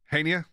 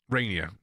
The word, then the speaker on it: Rainier: Next one is going to be Hania. Is that how you say his name? Rainier. Why did I call him Hania?